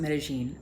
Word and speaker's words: Medellín: went to which was medine Colombia I know that they pronounce it medine I just hate pronouncing the double L's with that J sound so I choose my